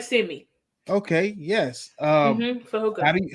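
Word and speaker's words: Fehoko: How do you pronounce his name? For he Fahoko. for Hoko. Fahoko, just like Simi. Okay, yes. Fahoko.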